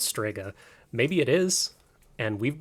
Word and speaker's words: Strega: say they called themselves sprega no they don't um I I hate correcting people but that's not how you pronounce that it's pronounced Strega I what are you